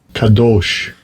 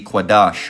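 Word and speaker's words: קדוש: what holy means and that should be uh quadash all right by the way Strong's H 69 18. kadosh and that's not good entry you got it wrong on that one no it should be quadash all right that's why we say right the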